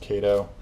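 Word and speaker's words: Kato: cut down all of the kado track that I have here I think it's actually pronounced Cato while the Cato track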